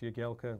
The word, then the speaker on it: Jagielka: get for Australia and obviously it's pronounced your Galco when I have to